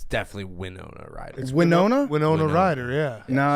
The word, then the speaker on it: Winona Ryder: I've just I've always called her wiona that's crazy yeah that stopped haning his tracks anyways Adam dur great work yeah we have it send I'm sending it to Max what what the official pronunciation from herself yeah it's Winona Rider from